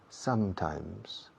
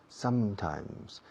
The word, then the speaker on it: sometimes: Dos M's. Y en las dos M's se cierra la boca. Sometimes. Sometimes.